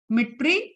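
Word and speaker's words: Дмитрий: Fluid was given by D silent होता है, मिट्री Ivanovsky, या आपसे क्वेश्चन में पूछेगा डीजे इवानोव्स्की.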